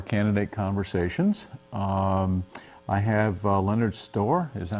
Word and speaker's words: Stoehr: I have Leonard Stoehr. Is that how you pronounce it? It's pronounced Stoehr. Stoehr.